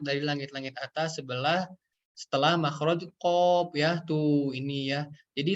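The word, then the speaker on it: قاف: Huruf qaf itu kurang lebih cara bacanya seperti huruf ki pada ejaan bahasa Indonesia, huruf ki ya sobat ya, atau huruf Q ya seperti itu.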